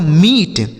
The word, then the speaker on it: meet: तो अगर किसी भी शब्द में दो ई लिखा गया हो यानी डबल ई लिखा गया हो तो उस ई का उच्चारण हमें बड़ी की मात्रा कर देना है।